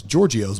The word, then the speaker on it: Giorgio's: But the name of our restaurant is Giorgio's, but it's spelled Giorgios as opposed to the TZ, which makes a G sound in the Greek language.